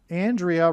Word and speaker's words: Andrea: Andrea rhymes with aliyah.